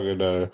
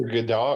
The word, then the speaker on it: Gadot: Yeah, Gal Gadot. Okay. It's either Gadot or Gadot. I think you say either way.